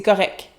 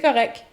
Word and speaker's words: correct: Notez qu'on ne prononce pas le T, on dit pas correct, on dit c'est correct. C'est correct.